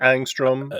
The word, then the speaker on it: Angstrom: I may not be pronouncing that right. Angstrom? No, that's exactly the pronunciation. Angstrom.